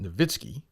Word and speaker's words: Nowitzki: Dirk, I pronounce it Nowitzki.